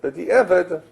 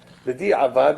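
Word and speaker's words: בדיעבד: This is the halacha by default, but b'di'evet, right? It's different. B'di'avad is also not an Aramaic word. B'di'avad, the correct pronunciation is like not the Ashkenazi pronunciation. B'di'evet, it's b'di'avad. It has been done already.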